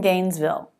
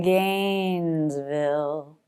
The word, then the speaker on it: Gainesville: I'm from Gainesville. I'm going to sing it, and I'm going to slow it down. I'm from Gainesville. I'm from Gainesville. The stressed syllables are I'm and gain.